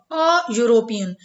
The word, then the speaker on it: European: here we have filled European if we pronounce European we find that here you hear the e letter e vowel is silent there is no voice no sound of e so the Sun is